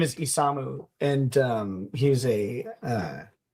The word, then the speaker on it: Isamu: Uh and his name is Isamu and um he's a uh he is a Valkyrie test pilot.